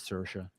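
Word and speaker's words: Saoirse: Yeah, Cersa Ronin. It's spelled completely different than the way you pronounce it, but the way she I've heard her pronounce it is Cersa.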